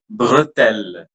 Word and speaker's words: bretelle: espoir, estival, pelle, nouvelle, bretelle. In bretelle, the E which I have underlined will be pronounced like that, okay? Bretelle. The last T will be silent, no problem with that.